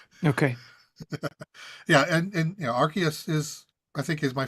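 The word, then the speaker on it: Arceus: to pronounce it yeah I think AR archus is now the official pronunciation okay just because they don't want people to say ARS that's a good point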